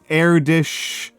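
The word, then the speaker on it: Erdős: Uh the the names I said were Oiler, Erdish, Newton. Uh so Oilers spelled like this.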